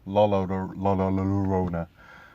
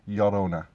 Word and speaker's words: Llorona: So, from an English point of view, it would sound like Llorona. But for those who know a little bit of Spanish, two L's together basically means a Y sound.